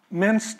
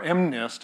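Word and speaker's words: MNIST: data digits here and it minced is or M NIST is probably the correct way to pronounce it is for the modified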